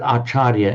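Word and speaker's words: ācariya: That's how it doesn't look like it on the face of it, but Archaria in Sanskrit acharia in parley acharia becomes ajan in the in the Thai pronunciation.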